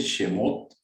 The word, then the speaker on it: Shemot: Éxodo se dice Shemot, se escribe S-H-E-M-O-T.